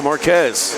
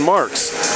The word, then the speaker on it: Marks: Souza into Marquez. Correction, Marks. I'm going to make that mistake a few times. Remember, fans, we called him Marquez last year. His name is Rion Marks.